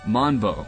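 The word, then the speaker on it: Mambo: The name looks like it would be pronounced Manbo, but it's Manbo with a Japanese pronunciation.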